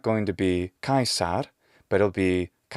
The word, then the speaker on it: Caesar: it's not the same the next is that if it's kaisar okay so english has suh but latin doesn't it has suh retracted as if we want to use the classical pronunciation so already the first four letters guys every one of them is completely different from the native english way of saying kais guys kais guys each one of those sounds is a little